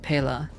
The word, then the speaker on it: Pela: It's Pila, right? Or is it Pela? Or is it like some other pronunciation that I got very wrong?